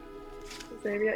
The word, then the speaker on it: Xavier: oh yeah, there's like this person named, like, Xavier, is that how you say it? Yep. Xavier?